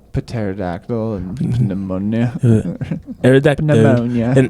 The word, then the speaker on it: pterodactyl: Or like pterodactyl. Or like pneumonia. Exactly. Would they use the silent letters? Pterodactyl and pneumonia.